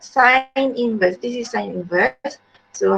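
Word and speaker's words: sin⁻¹: how you pronounce uh look like sine to the power of negative one but we pronounce it as sine inverse then you write zero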